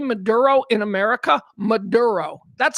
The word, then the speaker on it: Maduro: Maduro. That's how we say it. His name is Nicholas Maduro. That is an American accent.